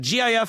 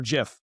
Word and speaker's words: GIF: Lee, the random question of the day is is a GIF file pronounced gif or jif? It's definitely gif and anybody who says it's jif is is fundamentally wrong My my man.